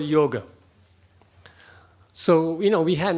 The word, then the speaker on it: yoga: yoga it's yoga but a lot of people in English I say yoga because it is spelled y-o-g-a but that that last a is girl rather than God but in Western countries